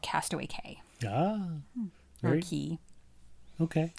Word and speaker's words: Castaway Cay: in the Bahamas, called Castaway Cay. Ah. Or Very Key. okay. It's spelled C-A-Y. A lot of people call it Castaway Key, but it sounds like K to me.